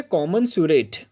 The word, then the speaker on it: commensurate: सो spelling की दृष्टि से भी ये बहुत इंपॉर्टेंट है। सो बोलेंगे कॉमनसुरेट।